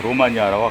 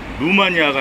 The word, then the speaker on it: 루마니아: 그래서 관련이 있는 어 로마니아와 관련이 있는 나라예요. 그래서 참 로마니아 로마니아 로마니아 제가이 로에 좀 이렇게 이제 액센트를 줬어요. 2,700년 가까이 루마니아가 아니라 로마니아라고 불러야 된다고 생각해요. 응.이 이 발음을 바꿔야 된다고 생각해요.